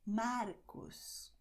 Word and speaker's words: Marcos: Just the tip, quick movement. And the tongue just does that, doesn't do that. Okay, so you're going to say in Portuguese, Marcos, Mário, Murilo, André.